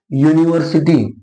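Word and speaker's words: university: ठीक है, और भी एग्जांपल है, जैसे यूनिवर्सिटी, यूनिवर्सिटी, यूनिवर्सिटी में शुरुआत यू आया, लेकिन प्रोनाउंसिएशन या से हो रहा है ना, इसलिए इसके पहले क्या लगाओगे, ए लगाओगे।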